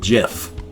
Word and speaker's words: GIF: delivered a jiff but I'm old school so I pronounce them jiff because that's the way they were pronounced back then and so then I